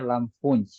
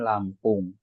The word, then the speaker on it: Lampung: Begitu juga Lampung, tulisannya Lampunj. Tapi kita bilang ana min Lampung.